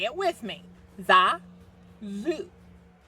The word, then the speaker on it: Xaku: Xaku. Potato. Say it with me. Xaku. Because X's are usually pronounced with a Z sound.